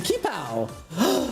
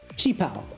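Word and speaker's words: qipao: How would one pronounce that? Kipow pronunciation. Chipao. That's what I figured. Because I know that, thank you, Dragon Ball, for teaching me that Ki is Chi is, you know, that kind of thing.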